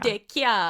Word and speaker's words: DeChiara: DeChiara. He told me how to pronounce his name.